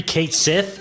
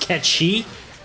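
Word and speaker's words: Cait Sith: Number 3, Kate Sith, which apparently is pronounced Ketchi.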